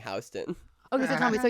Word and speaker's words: Houston: Houston. It's pronounced Houston.